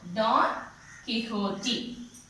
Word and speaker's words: Don Quixote: T-I we have to pronounce T-E-E. Quixote. Quixote. So, Don Quixote.